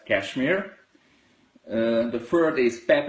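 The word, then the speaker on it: KSHMR: Kashmir how can we how can we pronounce k s HMR I think it pronounced as Kashmir uh the third is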